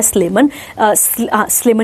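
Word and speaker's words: Sleman: कहाँ पर आता है, स्लेमन ही पढ़ेंगे इसको, स्लेमन नियर योगाकार्ता, जावा, इंडोनेशिया में।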